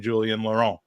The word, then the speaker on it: Julien Laurent: It's Gabby Marcotti and Julien Laurent. Welcome to the Gooners pod. Did I pronounce that okay, Julien? Yeah, perfect, man.